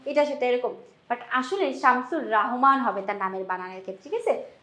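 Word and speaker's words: শামসুর রাহমান: হচ্ছে তার নামের বানানটা নাম হচ্ছে সুর রাহমান ঠিক আছে নট রহমান রহমান এটা কিন্তু হবে না এটা একটা ভুল আমরা নরমালি বানের ক্ষেত্রে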